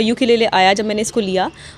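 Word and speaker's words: ukulele: Ma'am से, ma'am ये पहले तो मैम इसका प्रोनाउंसिएशन क्या है मैम? यूक्ले या मैम यूक्ले, मैम क्या? यूकेलेले, इसका नाम है यूकेलेले।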